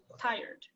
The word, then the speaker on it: tired: Tired is one syllable. Tired.